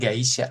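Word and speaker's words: 会社: Ini kanjinya tetap sama kayak Kaisya, cuman cara bacanya aja jadi beda kayak gitu. Jadi gaisya bukan Kaisya lagi.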